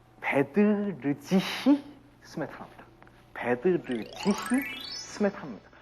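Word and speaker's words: Bedřich: 자, 베드르지히 스메타나입니다. 베드르지히 스메타나입니다. 우리가 그냥 독일어식으로 읽으려면 베드리히 스메타나. 어디가 틀립니까? R이 틀리죠. 베드리히가 아니라 베드르지히 스메타나입니다.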